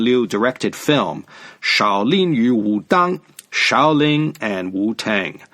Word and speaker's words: Wudang: style in Chinese was called Wu Tang Shen Wu dong in the old way jail system of writing Chinese is spelled w u ta ng and those two